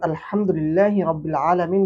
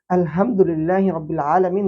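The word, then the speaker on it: الحمد لله رب العالمين: আমরা যখন এর সঠিক উচ্চারণ আলহামদুলিল্লাহি রাব্বিল আলামীন বলি তখন এর অর্থ দ্বারা সমস্ত প্রশংসা বিশ্বজগতের প্রতিপালক আল্লাহ সুবহানাহুওয়া তাআলার জন্য। কিন্তু যখন এখানে আমি ভুল উচ্চারণ করি আলহামদুলিল্লাহি রাব্বিল আলামীন বলি তখন এর অর্থ দ্বারা সকল নিন্দা সকল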